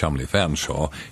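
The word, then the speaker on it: Featherstonehaugh: take the Mickey out of those who can't pronounce good English it's Ralph chalm only Featherstone hawk in bolu or possibly fanshaw in Beulah about 10 years ago I visited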